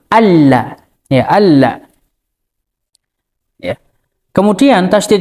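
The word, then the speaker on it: أَلَّا: Ya, kemudian di dalam lafadz la di sini, di situ juga mengandung tasydid karena adanya nun sukun bertemu dengan lam, sehingga kita membacanya asyhadu alla.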